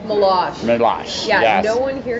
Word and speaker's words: Meloche: Meloche? Meloche. Yeah, yes. No one here can pronounce it, so you're in good company.